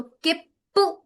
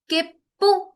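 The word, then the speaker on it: きっぷ: Same with this one, की, छोटा सू, और ये पू, तो किप्पू, किप्पू, किप्पू।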